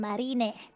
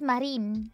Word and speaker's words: Marine: How about you're pronouncing her name, Marina? Marina. Is that not right? It's just Marine.